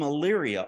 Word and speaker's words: Elyria: And he goes, you're from Elyria, Ohio. And I said, yeah, you actually pronounced that correctly because people usually biff up that name. And he goes, yeah, I actually was in Elyria for a little while.